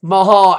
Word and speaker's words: Mahal: It's Mahal, Angle. You may have to brush up on your SmackDown watching, not just focus on your own show. Really watch the product and know how to pronounce Jinder's last name.